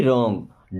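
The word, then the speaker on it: wrong: मी मीस मुझे रंग अब देखिए यहां पे डब्लू साइलेंट आर के पहले कभी भी डब्लू आए तो डब्लू साइलेंट रहेगा याद रखिएगा है ना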